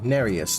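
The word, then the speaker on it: Nerijus: learn to dodge time oh nerius that's how you pronounce it leave me alone help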